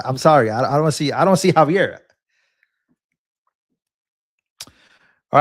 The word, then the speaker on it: Xavier: It's pronounced Javier.